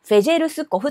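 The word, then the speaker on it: Fejerskov: んですけれどもこちらフェルスコフと読みますフェジスコフさんが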